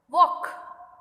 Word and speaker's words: walk: Walk, L is silent.